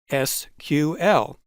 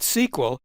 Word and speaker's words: SQL: calling their language sql officially the languages pronounced sql but the ibm people were accustomed to calling it sql and they continued to do so as use of the language spread throughout the database industry the sql pronunciation spread too today about half the people call it sql and the other half